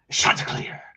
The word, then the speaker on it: Chanticleer: Old Dominion Monarchs, Chanticleer. That's how you have to say it. You gotta really pronounce the sha.